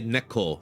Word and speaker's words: Neko: It's spelled Nikko, Nikko, like light. Nikko. Neko. You would say Neko for that. Neko is cat.